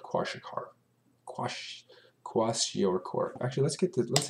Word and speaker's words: kwashiorkor: pronounce this those if tell us how to pronounce it let's see washer washer washer washer washer core okay yeah yeah but it's basically caused by